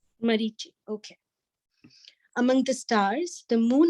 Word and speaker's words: Marichi: There are 50 varieties of wind blowing in space, and of these winds, the controlling deity, Marisi, is that how you pronounce it, Prabhuji? Marisi represents Krishna. Marichi. Marichi, okay.